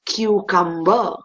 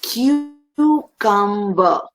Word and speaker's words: cucumber: for the day is cucumber many people say cucumber but the correct pronunciation is q come repeat after me cucumber